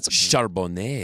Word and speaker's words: Charbonnet: Charbonnet.